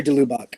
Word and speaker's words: de Lubac: hear about your research with, I think it's de Lubac. Is that how you say it? Sure. Yeah. Honor de Lubac.